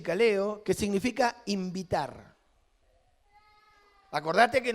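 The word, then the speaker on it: καλέω: Y esto tiene que ver con la palabra llamamiento, que en griego es kaleo, se pronuncia así, kaleo, que significa invitar.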